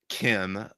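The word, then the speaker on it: Kh'ym: know her species name but her name is pronounced Kim like K IIM and spelled in a very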